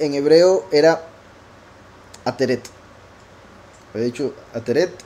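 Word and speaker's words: עטרת: Y en hebreo era ateret. He dicho ateret y aretet. Sí, ateret.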